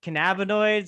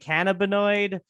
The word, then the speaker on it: cannabinoid: That's still up for debate, because it's either, some people say cannabinoid, some people say cannabinoid. I'm on the team cannabinoid, because we say cannabis, not yeah.